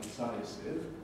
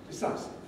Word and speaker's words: decisive: into the time available and in the word decisive again same thing after the eye is voiceless and many learners can improve their pronunciation by saying not decisive but decisive now many languages have